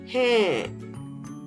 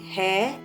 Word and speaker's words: हैं: मुंबई और दिल्ली शहर हैं. Have you noticed? I am not saying hai, I am saying हैं because it is more than one city. And R is हैं, not hai.